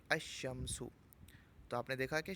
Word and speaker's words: الشمس: حرف شمسی ہو تو الف لام کے لام کو حرف شمسی میں مدغم کر کے پڑھیں گے، یعنی لام کا تلفظ نہیں کریں گے، جیسے الشمس۔ تو آپ نے دیکھا